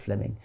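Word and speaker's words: Fleeming: So Fleming Jenin was simply it's written fleeing but is pronounced Fleming.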